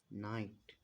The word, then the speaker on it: night: अब ई को हम यहाँ लिखेंगे और जी एच साइलेंट रहता है और यहाँ पे क्या है टी है यानी कि यहाँ पर टार है। क्या लिख गया नाइट।